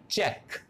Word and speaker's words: चेक: तो यहां भी क्यू यू ई आया है, यू ई साइलेंट कर देंगे। और मैंने कहा था कि क्यू आपको कौन सी साउंड देगा, के की, तो इसको हम क्या बोलते हैं, चेक, इसलिए हम चेक बोलते हैं इसको।